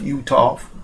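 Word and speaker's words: Uthoff: um the issue with red shirt freshman gerro utov and that's spelled u t h o FF utof or utof I'm sorry he basically decided earlier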